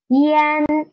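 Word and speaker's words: yan: Next one is yen, yen, yen. First, pronounce E and then try to pronounce N, and then you can get a yen.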